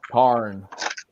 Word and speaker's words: Tarn: I can't even pronounce his name now. X-Transbots. No, Tarn.